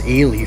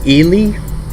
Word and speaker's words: Ely: Can you guys just It's not Eli Nevada. All right. If I hear somebody say Eli Nevada one more time, I'm going to lose it. I'm going to I'm going to start hunting because that's just You can't even pronounce it. It's Elie Nevada. That's how we pronounce it.